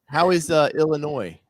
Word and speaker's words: Illinois: Laura, how is Illinois, as the locals pronounce it?